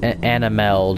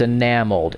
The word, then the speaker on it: enameled: I also found that I would say Anna meld I regret it so much and I pronounced it wrong I'm not not I no no you're infected get away from me probably shouldn't have been that harsh all right come on it's enameled it's enameled glass enamel glass I I